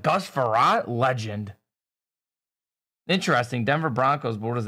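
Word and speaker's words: Frerotte: one-on-one Gus farant but they called him like ferrotors like they butchered his name because they just don't know who he is they're like who is this guy I'm like Gus ferrat Legend interesting Denver Broncos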